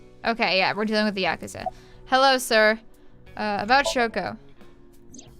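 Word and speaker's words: ヤクザ: he has a good yakuza which is technically right but it's more supposed to because since japanese is really weird they don't put emphasis on syllables it should be more like yakuza but i don't know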